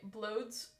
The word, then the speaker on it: Blods: By the way, blods rhymes with odd.